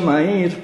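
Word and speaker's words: Mayr: fines del siglo pasado lo pronuncio mair porque es inglés en realidad sudafricano y ustedes saben que el inglés se escribe de una manera y se pronuncia de otra y en este caso es medio feo no dicen que sece algo así como mear Bueno entonces Castellano Suena muy feo digámosle mair mejor no m a y r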